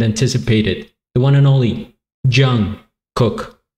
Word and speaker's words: Jung Kook: the one and only Jung cook if that's how you say it a lot of people corrected me I used to uh say young and everybody in the